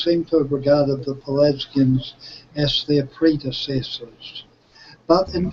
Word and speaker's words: Pelasgians: I wanted to the if I'm pronouncing it correctly, the Pelasgians. Pelasgians, yeah.